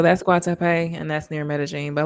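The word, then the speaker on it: Medellín: Medellin. So it looks like Medellin, but they pronounce it Medellin.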